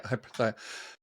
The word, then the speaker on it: hyperthymic: Is it hyperthymic? Is that the right way to say it? Yes. Yeah, hyperthymic.